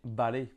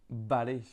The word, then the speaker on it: vale: Par exemple, le mot d'accord en espagnol, c'est vale, vale.